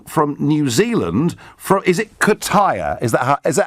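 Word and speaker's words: Kaitaia: Is it Kataya? Is that how I pronounce it, James? Yes, Nigel, yes. It's Kataya.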